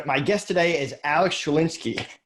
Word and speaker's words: Schlinsky: I'm your host, and my guest today is Alex Schlinsky. How you doing, Alex? Did I pronounce it right?